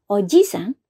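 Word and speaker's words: おじさん: ya ini tolong diperhatikan Kalau pengucapannya panjang ojisa artinya adalah kakek ya sedangkan Kalau pengucapannya pendek Oji sang artinya adalah Om atau Paman ya jadi Oji sangh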